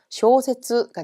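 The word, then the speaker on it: 小説: 쇼라고 읽히기 때문에 정답은 길게 발음해서 장음이죠. 쇼세츠가 되겠습니다.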